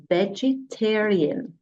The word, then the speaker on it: vegetarian: that Dish as vegetarian notice that my voice goes up on the third syllable vegetarian so the word vegetarian